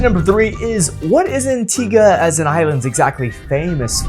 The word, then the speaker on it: Antigua: And yes, you might have noticed I'm pronouncing it Antigga, not Antigua. So, if you are thinking to go there and you've been pronouncing it Antigua, now is the time to go ahead and pronounce it correctly before you get there.